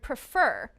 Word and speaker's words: prefer: The second syllable is also stressed in the word prefer.